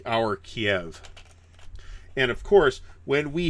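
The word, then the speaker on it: Kyiv: So Kiev, depends on whether you're Russian or Ukrainian. Apparently the Ukrainians pronounce it Kiev, and the Russians pronounce it more like our Kiev.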